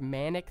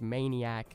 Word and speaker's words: Manic: embarrassed - clintus also the skin is actually pronounced manic the amount of people that are like no it's pronounced maniac maniac has an a between the eye and the